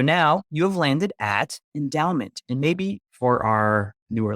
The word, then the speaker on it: Endaoment: I'm not pronouncing it right. I feel like you really have to put emphasis on the Dow.